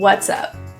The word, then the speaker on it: what's up: In English pronunciation, we will slide the S to the U so that we can link it together.